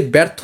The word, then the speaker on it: ব্যর্থ: যফলা যখন শুরুতে ব্যবহৃত হবে তখন এরকম উচ্চারিত হবে। তাহলে এই যে ব্যর্থ যেটা আছে এটাও কিন্তু একারান্তই হবে। অর্থাৎ এটার উচ্চারণটা তোমাকে এভাবে লিখতে হবে। অন্তস্থ র তারপর থকার থ ব্যর্থ।